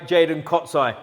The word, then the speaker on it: Jaydon Kocaj: Butchered where we are. We're in Oxford with my new mate, Jaydon Kocaj.